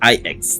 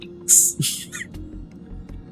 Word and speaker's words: IX: So, it's pronounced as IX, not X.